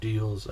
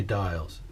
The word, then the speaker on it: Diels: And this is Diels, Diels or Diels. I've heard it pronounced both ways. I say Diels.